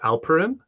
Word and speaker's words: Alperen: He, I believe his first name is pronounced Alperen.